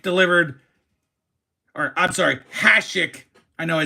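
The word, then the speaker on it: Hašek: Hik delivered or I'm sorry, Hashik, I know I said it wrong, delivered legendary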